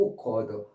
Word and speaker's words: awkward: 오쿼드 요거 정말 아셔야 돼요. 오로 발음하시고 오쿼드.